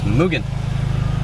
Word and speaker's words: Mugen: moogan yeah i'll see i was gonna say negan yeah it's mugen there's a video a lot of people used to call it mugen a lot of people